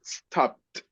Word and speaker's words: stopped: have to add so in this Cas is stopped stopped okay stopped D is T yes yes